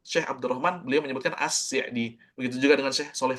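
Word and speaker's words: السعدي: tafsir ini kitab tafsir assdi assdi ucap ni faedah juga ya tambahan jadi pengucapan yang benar itu assidi bukan ass'di ass'di itu benar itu penisbatan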